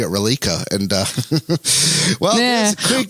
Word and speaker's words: Reliqa: it was the first time i've heard uh relica which i thought it was pronounced malika you got the pr you got